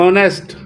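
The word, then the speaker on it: honest: ई टी E complete H ओ एन ई एस टी नेस्ट ऑनेस्ट ऑनेस्ट पढ़ेंगे एच नहीं पढ़ा जाएगा silent H ऑनेस्ट क्या पढ़ेंगे ऑनेस्ट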